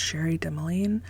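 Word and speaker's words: Cherie Dimaline: The Marrow Thieves by, I believe her name is pronounced Sherry Demeline.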